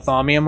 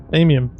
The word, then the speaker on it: Thamium: Yeah, Minecraft is making us call it Thaumium, unfortunately. Yeah, I know. There's no U in it, though. Yep. So it's Thamium? Yeah, it's Thamium, I think. Thamium.